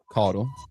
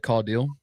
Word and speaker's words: Codell: So So my dad pronounces it Codle. You nailed hit the nail on the head. Um, however, you know, my mom always said call deal. So that's like I said, it's either either or is perfectly fine.